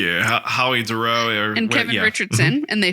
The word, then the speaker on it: Dorough: Yeah, Howie Dorough.